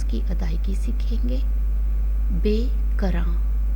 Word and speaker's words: بے کراں: پیارے بچوں، ابھی ہم اسی شعر سے جو لفظ لیے ہیں ان کی تلفظ کی ادائیگی سیکھیں گے. بے کراں، بے کراں، بے بڑیے بے، کاف رے الف نون گنا، کراں، بے کراں، بے کراں.